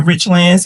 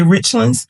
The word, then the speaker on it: Richlands: when people come to Rich lands and they try to say Richlands I says no it is Richlands want to make sure you pronounce it right I some people there